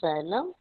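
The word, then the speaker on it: xylem: and and slum slum understood now how to pronounce it yes vascular tissue is made up of xylm and for water and minerals yes yes oh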